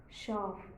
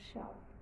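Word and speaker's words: Schaf: how it sounds that way we have to pronounce it it is like CH and so then sheep sheep is Shar s c h a f Shar goat is Seeker again the same thing we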